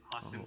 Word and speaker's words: Hassan: And my name is, you could pronounce it. My name is Hassan.